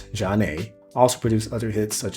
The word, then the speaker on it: Zhané: Their debut album, pronounced Zhané, also produced other hits such as Grooved Thing, Sending My Love, my favorite, and Vibe.